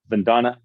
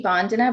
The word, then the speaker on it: Vandana: name correctly is it bandana is that correct oh my God you say it's so nicely it's actually bondana but I love the way you said it Vandana that is so